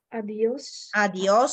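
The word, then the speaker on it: adiós: скоро и тем подобно адиос с ударение на о как ще бъде до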